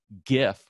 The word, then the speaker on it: GIF: is this one right it's pronounced gif with a hard G or this one which